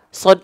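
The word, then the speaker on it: ص: Jadi yang pertama, sod itu sebenarnya pelafalannya hampir sama dengan huruf poin pertama, yaitu huruf sin.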